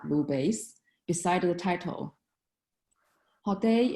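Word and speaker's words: Hotei: Hao Dai is a Japanese pronunciation. In Chinese, it is called Bu Dai.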